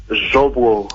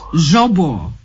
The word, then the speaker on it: Zvobwo: you got it correctly you pronounce it like a Russian actually so that's really good how is it how is it supposed to be pronounced zobo zobo Z yeah oh fantastic